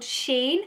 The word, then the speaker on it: Shein: So I have some pieces from a brand called Shein. I think that's how you pronounce it.